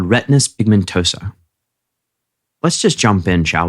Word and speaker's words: retinitis pigmentosa: Do I have the pronunciation right? First off, it's retinitis pigmentosa.